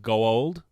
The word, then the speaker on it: Goa'uld: of those ladies were saying Goa'uld a lot. I noticed that. That was a little bit Neith annoying. was the worst Gold.